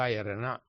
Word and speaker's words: Ratana: The Ratana is pronounced as Yarana. Buddha Yarana, Dhamma Yarana, Tanga Yarana.